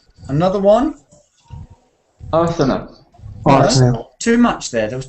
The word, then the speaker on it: Arsenal: It's not Arsenal. It's not. It's Arsenal. It's just, if you go to London, you will hear people say Arsenal. Arsenal. Arsenal. Arsenal. Arsenal. Arsenal. Not Arsenal. They wouldn't say Arsenal. They say Arsenal.